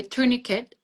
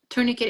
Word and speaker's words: tourniquet: I think it's both way tourniquet. Tourniquette is the American one and tourniquet. We're both good.